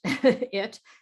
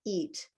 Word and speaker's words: it: Uh the way you make it is with it it is with a relaxed mouth. So, it it, you can see here that my mouth is relaxed. It's not eat eat, where your mouth is stretched.